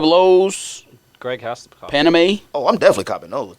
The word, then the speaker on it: Paname: How do you pronounce that? Paname? It's Paname.